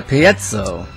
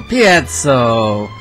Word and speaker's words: piezo: But it's pronounced differently from where you come from. Here's how the English say it. Piezoelectric.